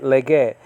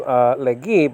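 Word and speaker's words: λέγει: Okay, lege. Spelled out capital lambda, epsilon gamma, epsilon iota, or lege. Okay. Now nowadays it'll be pronounced legi, but you know that's modern Greek though.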